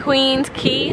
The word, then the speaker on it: Queens Quay: this is Queens Quay wait Queens key watch how you pronounce it waterfront because in CN